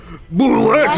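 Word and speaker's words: bulette: Boulette and boulet are both accepted pronunciations of the boulder's creature name.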